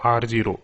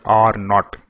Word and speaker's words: R naught: or the news channels they say it is r0 it is ro remember it is not R 0 or R oh it is pronounced as are not know I'm sure that